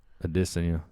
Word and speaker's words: Adesanya: Adesanya. I know. I like saying it. That's the right way to say it.